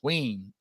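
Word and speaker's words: Wein: Ween. W-E-I-N, like we, me and my wife.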